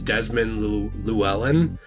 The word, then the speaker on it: Desmond Llewellyn: and I I feel bad about this is Desmond Llewellyn it's an interestingly spelled last name he's a